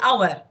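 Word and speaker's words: hour: Our begins with H, but the H sound, you know that the H sound is silent. يعني as if we're starting with the O sound, so that's why I say our.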